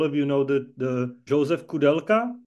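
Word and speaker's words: Koudelka: I think all of you know the Josef Kudelka. I'm trying to pronounce it how English-speaking people are pronouncing it, but probably the most famous Czech photographer.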